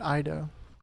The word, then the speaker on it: Ito: That Ido. Oh, that's how she pronounces the spelling. I'm not enunciating the T, and I'm not going to do it every time because it sounds awkward.